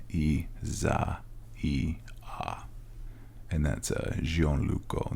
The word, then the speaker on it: Isaia: it I swear e this is how you pronounce it in Italy Isaiah it's spelled just like Isaiah but it's e Za e a and that's a xon